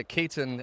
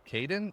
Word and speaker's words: Kaitton: Kaitton. Everybody's like Kaden. No it's not Kaden. It's Kaitton.